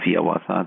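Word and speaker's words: Hiawatha: of his most famous poems the song of Yawata that's how he wanted it to be pronounced published in 1855 within just a couple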